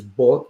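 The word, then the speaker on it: 八: Again, when it comes to the pronunciation in Cantonese is bot, which close to fort, and that means rich.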